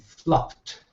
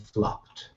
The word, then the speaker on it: flopped: see you've got to say flipped okay and flopped when you're using these words okay if you're pronouncing it as uh flipid or floid uh